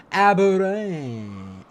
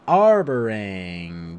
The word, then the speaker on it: Arborang: Aberang. Arborang. That's why there's an R in between A to B. I've been forgetting to pronounce that.